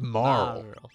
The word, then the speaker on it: Marle: Her name is Marl. So, if you ever played the game and you see that it's written M-A-R-L-E. Marley, yeah. I always pronounce it Marley.